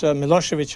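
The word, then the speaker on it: Milošević: these um current leaders mosovich in Serbia when it's written when you see it on newspapers it's it ends with a c but actually it is pronounced as if it were CH do you find people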